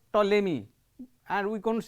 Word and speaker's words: Ptolemy: scientist he is called ptolemy and we are going to say a p is not pronounced here we have also